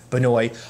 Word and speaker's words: Benoist: says it's properly pronounced Benoit, but I've always said like Benoit. I always feel like I enunciate the T more than I should, but she talked about